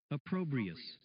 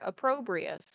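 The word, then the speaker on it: opprobrious: All right, let's see if we're saying it correctly. Let's find out. Approprius. Oh, we are. Approprius.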